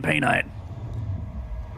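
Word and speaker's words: Painite: pain in Paynite. That's how I pronounce it too.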